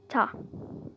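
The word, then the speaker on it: ㅌ: Next we have ta, ta. T sound, like a soft T sound, not like TT, but it's like ta, ta. Like this is pronounced with more force than this, like this.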